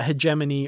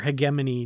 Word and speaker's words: hegemony: the season finale uh hegemony or hegemony depending on how you prefer to pronounce it the Gorn have been referred to their government as the Gorn hegemony or the Gorn hegemony depending again on how you want to pronounce it which uh you know American or British but yeah this could